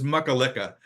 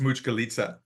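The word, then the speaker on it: Mućkalica: It's it's it's from Serbia and it's a stew and it's called it looks like it says makalika but it's actually pronounced mchkalita and it's you know I like these stews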